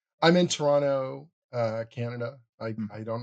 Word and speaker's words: Toronto: to Toronto that if you want to sound like a local, you just sort of smash it together. It's Toronto. It's just like one word. There's no second T in it. You can always tell when they're not local when they say Toronto or something like that, you know?